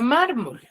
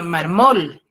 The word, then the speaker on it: mármol: yo tengo la palabra mármol Pero si yo le coloco la tilde en la última sílaba en la mol yo diría marmol María tiene un marmol sería lo correcto no